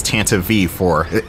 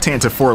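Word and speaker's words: Tantive IV: And yes, the correct pronunciation is Tant V4. It's not tant 4 like I thought it was all these years.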